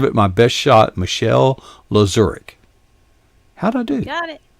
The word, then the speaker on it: Lazurek: Michelle Lazurek.